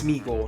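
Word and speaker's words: Sméagol: I said it wrong it's smeagle not schle that's I don't I've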